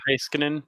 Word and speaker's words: Heiskanen: Yeah, Miro Heiskanen.